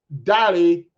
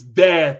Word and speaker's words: Dare: Or no, it's Dare to Trend. Why did I say Dally? Because that name is spelled the same way for a Yoruba name and we pronounce it Dally.